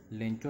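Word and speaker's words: Lencho: लेंचो ऐसे बोलने में लेंचो लगता है, लेकिन इसका एक्चुअल प्रोनाउंसिएशन लेंको भी लिखा हुआ है।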